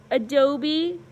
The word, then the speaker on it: adobe: can you see this kind of clearly now Adobe uh upside down II Dobie and the punch